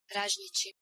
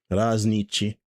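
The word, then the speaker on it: ražnjići: Raznici. Raznici. So Raznici is a traditional Balkan dish consisting of skewered and grilled pieces of meat. The name Raznici is derived from razanj, Serbo-Croatian word for skewer.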